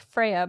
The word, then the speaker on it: Feyre: I think it's pronounced Freya, but it's literally spelled Feyre, which is like Wait, how? Feyre. So Fyra?